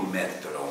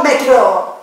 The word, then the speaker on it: metodo: Infatti, qual è il tuo metodo, mister? Jesus Christ, shut up! Repeat 10 times. Metodo. No, metro.